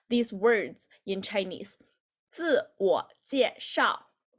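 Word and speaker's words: 自我介绍: It's 自我介绍. If you can see the right here about the pinyin, it will indicate how to pronounce these words in Chinese. 自我介绍，自我介绍 self-introduction, 自我介绍.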